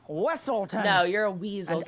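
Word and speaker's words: Weselton: Yeah, Weaselton. It's pronounced Wesselton.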